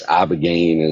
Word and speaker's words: ibogaine: Yeah, it's Ibogaine.